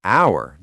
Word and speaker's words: hour: Wait, but we say an hour, not a hour. Exactly, because it's not about the spelling, it's about the sound. Hour starts with a vowel sound because the H is silent, but a history book because the H is pronounced.